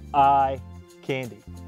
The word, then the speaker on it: Ikandi: talking about Acer palmatum eye candy and that's about ah k-a-n-d-i but it's pronounced like I candy this is a selection